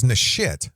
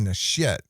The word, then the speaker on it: Nasheed: I thought it was Nasheed, but it's actually Nasheed.